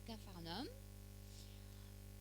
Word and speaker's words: Capharnaüm: Donc après les noces de Cana, le Seigneur est retourné avec sa mère et ses frères à Capharnaüm. Et c'est comme ça qu'on prononce Capernaum.